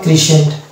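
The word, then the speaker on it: crescent: পরের next word যেটা হচ্ছে ক্রিসেন্ট, অনুরূপভাবে এখানে দেখতে পাচ্ছি এসসি আছে, তো সি এর পরে আবার এসসি এর পরে আবার ই দেখতে পাচ্ছি, অতএব এখানে সি সাইলেন্ট হয়ে যাবে, অতএব এটা হবে ক্রিসেন্ট। এখানে দেখতে পাচ্ছি অফ সেন্স,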